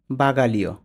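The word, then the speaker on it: bagaglio: উচ্চারণটা হবে না তাহলে জি এল আই এ তিনটা মিলে লি এর মত উচ্চারণ হবে লি উচ্চারণ হবে ঠিক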